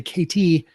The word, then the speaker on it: Katie: She also explained to me that people often pronounce her name wrong, Katie with a D, when it's actually KT.